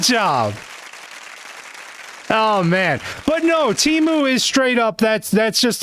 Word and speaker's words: Temu: Yeah, it was Tebu. It was, pardon? Yeah, it was called Tebu. Can you spell it? Yeah, it's Temu.